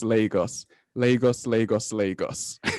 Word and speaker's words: Lagos: it's pronounced lagos and it's not pronounced largos it is lagos lagos lagos lagos thanks